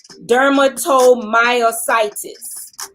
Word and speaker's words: dermatomyositis: up that how you pronounce this but it's pronounced derma dermatomyositis that's her autoimmune issue and it affects adults